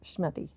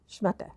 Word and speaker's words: schmatte: This old schmattie. Schmatte. Schmatte. That's Schmatte. right.